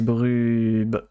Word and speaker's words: Brub: Tu as mal prononcé Bien. son pseudo, puisque c'est Brub.